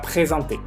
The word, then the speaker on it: présenter: Como está en la misma sílaba, acuérdense, por favor, de pronunciarlo como ON. Présenter, no présenté. Présenter.